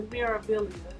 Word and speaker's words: Meraviglia: We are actually on the balcony of the Meraviglia. Did I say it right? The Meraviglia.